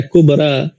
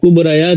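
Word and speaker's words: كبرى: कुबरा अब कुबराया तो इसको नहीं पढ़ते बल्कि कुबरा हुस्ना सोरा बुशरा तो ये अलीिफ का साउंड करता है।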